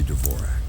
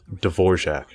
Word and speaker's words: Dvorak: to correcting is that this guy's name you must be Devore Dvorak should be pronounced Dvorak before it discussed the